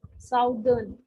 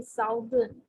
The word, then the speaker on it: southern: it as a south, southern. Okay, so they say southern, but it's not exactly southern. When it is OU, it is sounding as O over here. So it's southern.